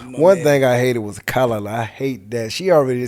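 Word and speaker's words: callaloo: It's called kalaloo.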